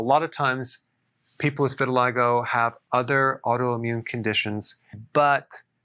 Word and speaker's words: vitiligo: i want to talk about vitiligo vitiligo that's how it's pronounced what is it it's a deep pigmentation